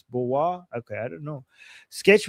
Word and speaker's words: Boer: You should be in our group and saying it's Boer not bore for sakes. I mean I don't know how what like why are you getting angry with me? I don't know how to pronounce these things. I saw this. Uh, so Ber Boer is a white farmer in a Yeah. Okay. Thank you. Boa. Boa. It's Boa.